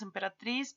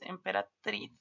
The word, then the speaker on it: emperatriz: Ven, nosotros decimos emperatriz, pero es emperatriz.